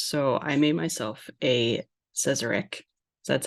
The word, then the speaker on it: Sazerac: Well, I knew you were in New Orleans, so I made myself a Sazerac. So that's how you pronounce it, right? Yes. Sazerac.